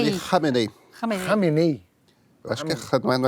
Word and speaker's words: Khamenei: O líder político e religioso do Irã, Ali como é que se pronuncia? Khamenei. Ali Khamenei. Khamenei.